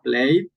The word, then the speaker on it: played: Yo, por ejemplo, digo acá, played. Aquí esa ed la pronuncio como una D. Después de la I, una D.